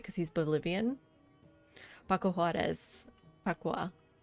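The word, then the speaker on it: Juárez: Paco Juarez. Pacua. Is more like an H in Spanish.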